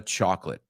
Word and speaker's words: chocolate: know, I'm not a chocolate guy. I'm not into chocolate. No es lo mío. It's not my cup of tea. ¿Y cómo se pronuncia? Chocolate, not chocolate, not chocolate. Chocolate. 2 syllables, chocolate, right?